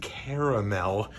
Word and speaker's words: caramel: chocolate caramel brownies uh it's important to pronounce both a's and caramel get yourself a package